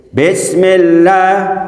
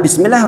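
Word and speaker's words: بسم الله: Kemudian lafzul jalalah, la di situ dibacanya tipis, tarkik. Karena apa? Didahului harokat kasroh. Nggak boleh bismillah atau bismillah, itu nggak boleh. Karena semua yang didahului harokat kasroh di dalam lafzul jalalah, maka bacanya adalah tarkik. Tarkik itu tipis.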